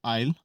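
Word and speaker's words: aisle: AISL ही है, लेकिन एस इसमें साइलेंट है, तो आइल, आइल का मतलब होता है गलियारा, और इसको आप पैसेज भी बोलते हो।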